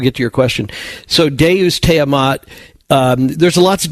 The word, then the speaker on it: Deus: It's just a real quick question about the pronunciation of Deu Sta.